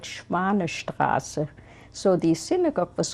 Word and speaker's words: Schwanestraße: I know the name of the street was called Schwanestraße. So the synagogue was called Schwanestraße Synagogue. Can you spell that, please?